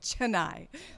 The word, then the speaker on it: Chennai: saying tonight or whatever but they're rotted it's Chennai so god bless you